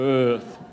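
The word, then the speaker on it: Eaarth: That's really what this last book of mine, Earth with the extra A, you kind of have to channel your inner Schwarzenegger to pronounce it correctly, sort of Earth.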